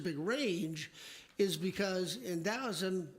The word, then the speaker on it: Taoism: And yes, the T is pronounced like a D, so is it Taoism or is it Taoism? It's Taoism.